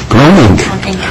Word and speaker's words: Groening: Groening. Groening. So it's groan and then ink.